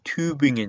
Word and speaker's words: Tübingen: 슈투트가르트 그리고 특히나 이렇게 끝나는 도시들 있죠. göttingen, tübingen 이런 도시들 전부 다 괴팅겐 하는 게 아니고요. göttingen이고요. tübingen입니다. tübingen 하지 않아요. 그리고 옴라우트 읽을 때도 마찬가지 괴가 아니고 그팅엔 그죠?